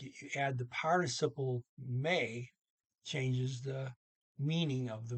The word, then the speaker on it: med: See here, and the D and may, MED is silent.